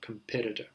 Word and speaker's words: competitor: The stress is on a different syllable, and that's the confusing part. So competitor.